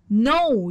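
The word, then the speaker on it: know: وير وور وير وور نو يعرف والك هنا سايلنت لا تنطق الماضي منها نو وبرضو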